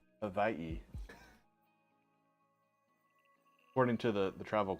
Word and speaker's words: Hawaii: some Pokemon oh Pokemon from Hawaii actually it's pronounced Havi according to the the travel Club pronounce Havi um yeah actually okay I I may be